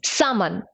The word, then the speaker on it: salmon: It is salmon. L is silent.